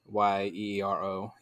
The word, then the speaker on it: gyro: Yeah, a euro, you say it like YEERO, euro.